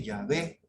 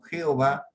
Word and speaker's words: Yahvé: tomó la decisión de usar la pronunciación original de yahvé en mes de jehova cuando tuvo el problema de las traducciones o martín lutero y sus seguidores y porque los israelitas del tiempo de moisés para adelante nunca dijeron nunca pronunciaron jehová como el nombre de dios sino con muchas